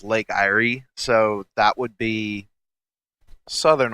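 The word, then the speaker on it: Lake Eyre: so that might be I think it's pronounced Lake Irie so that would be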